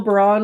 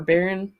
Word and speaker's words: Baron: Jill Baron was there, or Baron, I guess you pronounce it. My brain goes to the fancier pronunciation.